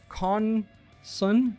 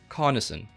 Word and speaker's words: Carnesen: Maximilian Schultz says, is it Carnson or Carnesen? It's Carnesen. So Carnesen, kinda, but it's with an E, not an I. It's just pronounced as an I.